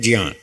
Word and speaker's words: ज्ञान: संस्कृत वालों ने हमको ऐसे ही सिखाया कि इसका शुद्ध उच्चारण है ज्ञान।